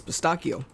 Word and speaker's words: pistachio: did you order it everyone said it wrong it's pistachio H it's like it's not mustache it's it's mustaki mustak it's got something to do with like the number of c's next to each other and if there's a